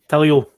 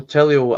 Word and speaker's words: Tilio: I've got a wee bit of a deep dive in here on, how do you pronounce this guy's name? Is it Tilio? Tilio.